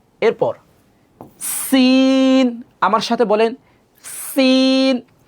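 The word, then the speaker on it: سين: এরপর সিন, আমার সাথে বলেন সিন। সিন যখন আমরা বলবো, সিন বলার পর একটু বাতাস বের হবে।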